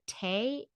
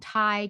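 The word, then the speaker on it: Tae: Trap a Tiger by, it's either Tay, if it's a Latin pronunciation, Ty Keller, and This was good, but it's a like Korean story.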